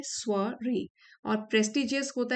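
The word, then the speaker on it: soirée: invitation और prestigious स्वरे यह जो वर्ड है इसको प्रोनाउंस करते हैं स्वरे और प्रेस्टीजियस होता है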